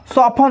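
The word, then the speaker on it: soften: Concept 1, F plus T हो तो वहां पर टी साइलेंट होता है। जैसे ऑफन, ऑफन मिस होता है प्रायः, सॉफन, सॉफन मिस होता है कोमल करना।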